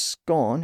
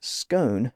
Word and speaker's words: scone: word is still geographical the pronunciation as scone is still more common in Scotland and Northern England whereas scone becomes more common as you move Southward now if you're a